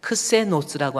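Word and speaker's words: ξένος: 여기서 크세니안이라는 것은 손님이 머무른 방인데 그 손님은 크세노스라고 하는 단어의 어근이 같습니다. 크세니안, 크세노스라고 하는 거. 뱀꼬리 같이 막 돌아간 거 있죠? 이게 크시라고 하는 거예요. 크시. 이게 그래서 CH 발음 크시에서 크세노스 이렇게 읽는 겁니다.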